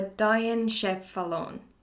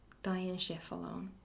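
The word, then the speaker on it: diencephalon: that the end cephalon it's not pronounced like that i'm sorry you will learn really funny words but it's yeah now i learned that it's called a diane chef fallon dying chef alone yeah i'm learning new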